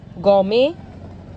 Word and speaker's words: gourmet: Gourmet, ballet.